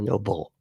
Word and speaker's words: Nobel: Yeah, a Nobel Prize, not a Nobel Prize. That's how Trump, I think, thinks it's pronounced, but it's not. It's Nobel.